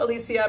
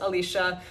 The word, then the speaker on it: Alicia: a so it's spelled Alicia but pronounced Alicia uh but for my foreign friends in they romance languages if you are French or Spanish it's more natural to say Alicia and I welcome that